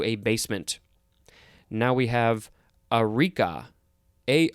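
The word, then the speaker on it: areca: basement now we have eureka a r e a-r-e-c-a could also be pronounced uh erica or araka this is a noun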